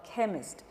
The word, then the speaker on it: chemist: For example, if I say the word chemist, so in that the CH is giving me the k sound because that's a Greek originated word.